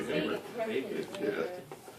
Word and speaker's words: Weber: Now, so Max Weber, German sociologist, you say, uh-oh? Is that how you pronounce it? I always said Weber. Yeah, I mean, if you want to look cultured, you say Weber.